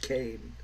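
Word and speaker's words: Leslie Kean: it's pretty much all uh what's her name Leslie Kane yes it's spelled Keen but it's pronounced Kane uh it makes out that she's the the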